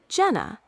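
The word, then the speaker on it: Jena: And Jenna. J E N A. Would you like to try pronouncing them? Yes. Zurich and Jenna.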